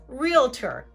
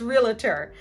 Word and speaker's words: realtor: Then we have, for our real estate agents, realtor. Realtor is a two-syllable word, but more commonly heard as realtor, adding that extra schwa sound right in the middle.